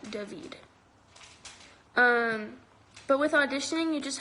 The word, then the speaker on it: David: It's David pronounced with the Hebrew pronunciation, David.